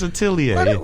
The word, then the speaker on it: atelier: Augustus Atelier? Atelier. God damn, that's it's a little tricky. It's a French word. You know what I'm saying? It's Atelier. Hold up. It's French for workshop.